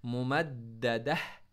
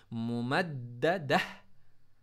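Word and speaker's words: مُمَدَّدَة: मुमद्ददह, क्या पढ़ेंगे, मुमद्ददह, ये जो ता है ना, इसको आपने साइलेंट पढ़ना, इस ता को आपने हा में चेंज करना है। हमने पहले भी बताया है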